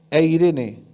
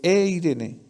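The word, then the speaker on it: εἰρήνη: el original en griego paz se pronuncia en el griego eirene como el nombre de mujer ya pero es eirene eirene que la paz significa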